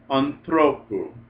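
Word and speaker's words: ἀνθρώπου: And when the ending goes long, the last syllable is long, you get an acute accent on the second last. So anthropos, but anthropu.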